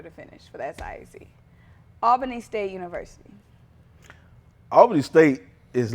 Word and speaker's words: Albany: I might be saying it. I know they get on me. You're saying it wrong. It's Albany, No, Albany you State. gotta go down there and check. They get on you. So they're telling you it's Albany? They say it's Albany.